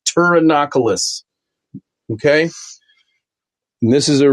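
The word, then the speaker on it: Pterinochilus: The P is, excuse me, the P is silent. T, it is pronounced Turanocus.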